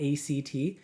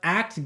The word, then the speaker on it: ACT: ACT, as it's pronounced, the word ACT, not ACT.